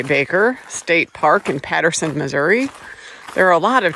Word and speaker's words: Missouri: Missouri, for people who don't know how to say it.